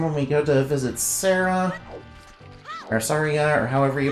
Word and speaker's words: Saria: be very important when we go to visit Sarah or Saria or however you pronounce her name I mean Saria yeah s yeah uh key smashing is you